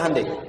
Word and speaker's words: Hyundai: Kita bisa kita dari tekad sehingga ketika di sana bikin Honda sini Hande Hyundai kan dibacanya Handai ya kan sana Honda